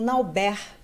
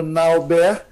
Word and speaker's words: Nalbert: Então, para realmente ficar combinando com o nome dele, pegou Nalbert e ficou a pronúncia francesa.